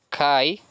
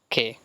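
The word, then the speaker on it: καί: diciendo la otra vez muchos la pronuncian Kai pero como les digo se pronuncia de esta manera se pronuncia que por este ditongo el ditongo a tiene una pronunciación e Entonces se encia que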